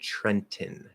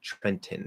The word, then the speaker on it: Trenton: trenton uh no we we treat this like mountain um so trent now if you fully enunciate it trenton trenton and you actually push